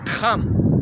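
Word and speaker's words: חם: Okay, and in the Hebrew it would be Kam. Even in Spanish it's called Kam as well.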